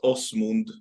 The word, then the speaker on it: Asmund: It's pronounced Asmund.